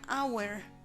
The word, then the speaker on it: hour: Cuando la H tiene sonido, más bien no tiene sonido, utilizamos an. Por ejemplo, en la palabra hour, an hour, una hora.